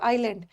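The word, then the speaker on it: island: इसका S silent है आइलैंड द्वीप के नाम के पहले भी द आता है।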